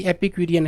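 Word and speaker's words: epicurean: जैसे ये बार बार में खड़ा है इधर आराम से मजे की जिंदगी, एपिक्यूरियन है। पिक लेगा यहाँ पे, पिक आ रहा देखो, इपिक, इपिक यूरियन, UREAN, एपिक्यूरियन।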